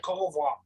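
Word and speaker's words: coq au vin: It's spelled V-I-N. Cocoa va. No, that's how French people say that. Cocoa va.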